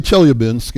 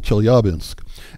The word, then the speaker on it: Chelyabinsk: you know I was I used to say Chelyabinsk and then a Russian speaker corrected me at like astronomy day or stargaze a little while ago so the accents on the second syllable Chelyabinsk and yeah well that